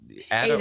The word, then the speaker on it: Ada: It's only Ada when I'm in Europe because Italians will never, ever stop pronouncing it the Italian way. But it's Ada when I'm in the US because that's what my parents do.